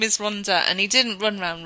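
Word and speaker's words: Rhondda: we had we had him pronouncing Ronda as um Rond or something or Rond it was hilarious and he got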